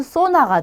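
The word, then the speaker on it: zona: 그 다음에 얘는 소나가 돼요. 자, 그래서 쌍시옷으로 수모, 아수까르, 소나 하셔도 되고요. 스 발음으로 수모, 아수까르, 소나 이렇게 발음하셔도 돼요.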